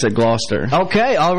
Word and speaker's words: Gloucester: I'm originally from Gloucester, Virginia. Okay, now, I heard some people pronounce it Gloucester. Is that accurate? Yeah, the English pronounce it Gloucester. But we redneck Americans pronounce it Gloucester.